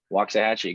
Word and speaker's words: Waxahachie: I forget, you have a store, and I keep mispronouncing. Was it Waxahachie? I did that. Waxahachie, good I did job.